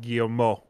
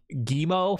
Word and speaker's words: Guillemot: I think the proper French pronunciation is like Guillemot or something.